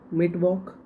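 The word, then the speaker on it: Mittwoch: कहा जाता है अब ऐसे नट डीन ट्यूजडे मिट वक मिट माने बीच में वक जो भी बीच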